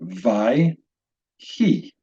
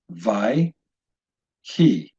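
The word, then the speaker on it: וַיְהִי: That being said, this particular example, we would pronounce this word vai, he. 2 syllables, vai, he.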